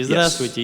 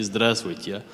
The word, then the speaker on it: здравствуйте: The stress syllable is spoken with a lower tone, so you don't say здравствуйте, you say здравствуйте.